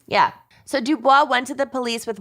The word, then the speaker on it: Du Bois: Meanwhile, from Colombia, Mark Schiller had hired a Miami-based private investigator named Ed Dubois.